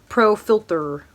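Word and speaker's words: Pro Filt'r: I don't know if you can see it because my lighting sucks, but it says Pro Filter, like filter, not ER, apostrophe R.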